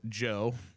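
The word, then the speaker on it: Djo: It is called Joe But it's spelled DJ O. So DJ O. Okay. And Joe.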